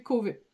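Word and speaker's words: Chauvez: famille moi j'écris chaué je sais que c'est prononcé c'est dans le Nord et que c'est prononcé cové donc elle en fait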